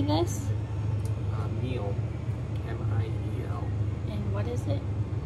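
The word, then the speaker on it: miel: Meal.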